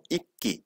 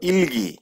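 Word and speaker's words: 읽기: উল্টা এখানে কি হইছে সাইলেন্ট থাকছে তাহলে কি উচ্চারণ হলো ইক্কি ইক্কি এখানে অনেকে কি পড়ে ইলগি তাই না ইলগি উচ্চারণ করে কিন্তু অনেকেই ইলগি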